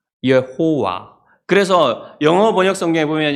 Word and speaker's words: 여호와: 옛날에 학자들이 이제 이것을 연구를 해가지고 과연 이 발음이 뭘까 해서 나온 게 예호와예요. 예호와. 예호와인데 이걸 어디서 땄냐면 아도나이의 모음을 따서 만들었습니다. 예호와.